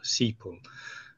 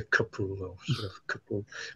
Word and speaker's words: CPUL: sort of acronym CP cpool which actually is using a slight German pronunciation for that as opposed to kapul anyway seole um so